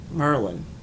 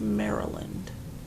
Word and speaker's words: Maryland: called it he was from Virginia and he pronounced Maryland Merlin I said Merlin is the wizard and the author entails knights of the round table also it's a tire company it's pronounced Maryland yeah that's what I said Merlin I said